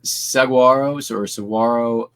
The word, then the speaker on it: saguaro: The saguaro cactus. I believe it's a H as the G.